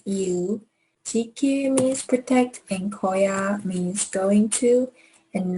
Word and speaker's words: 거야: So a strong G here.